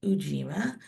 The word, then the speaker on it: Ujima: My name is actually Ujima. It's pronounced Ujima.